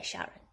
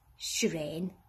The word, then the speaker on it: Serene: what do you say sharon it's shreen i replied just for